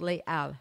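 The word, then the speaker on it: Les Halles: came to be called Le Al which is basically halls but it's of course in French you don't pronounce the h so makes it hard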